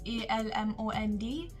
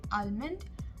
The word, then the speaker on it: almond: third word almond almond i know it's spelled as a-l-m-o-n-d but generally the l is silent so you won't say almond you will say almond